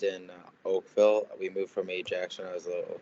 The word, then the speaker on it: Ajax: a small town of how do you say Ajax? Yeah, Ajax. Yeah, Ontario, come to play in the hockey hotbed of Dubuque, Iowa? Yeah, my dad and mom, we lived in Oakville. We moved from Ajax when I was a little kid and played